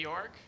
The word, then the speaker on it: York: real name is AJ York and uh it does rhyme with JJ dork yeah but he gave